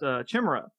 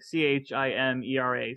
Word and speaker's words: chimera: as a kid uh you thought it was pronounced chimra because that's how it's spelled it's like c h i m e r a so um it wasn't until much later that I learned oh it's Chimera so in case you're